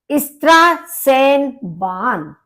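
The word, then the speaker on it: Straßenbahn: अब आप देखेंगे ये बी की तरह लिखा हुआ है, जबकि ये बी नहीं है, ये आपका बी की तरह लिखा हुआ बीटा बी कहलाता है। इसका प्रोनाउंसिएशन होता है सा।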